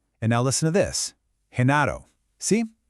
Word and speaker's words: Genaro: Same letter, but the sound is completely different. Let's find out why. Okay, so let's break this down. Over on the left, you've got that hard G sound in gato and gordo. That's that G sound, the one you probably expect. But then on the right, with Genaro and girasol, it becomes this soft sound, almost like the H